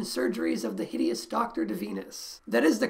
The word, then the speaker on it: Divinus: s craigsl forbidden surgeries of the hideous doctor de venus that is the correct pronunciation by the way de venus i found an audio clip of zeller saying